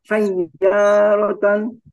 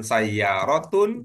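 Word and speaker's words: sayyāratan: ini Bapak bacanya gimana tadi bacanya sayarotan Iya bagus apa pertimbangannya bukan sayyarotun bukan sayarotin an eh Maul bihanan Iya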